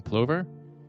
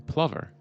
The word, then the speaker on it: plover: cutest thing ever some pronounce it piping plover others piping plover either way piping clovers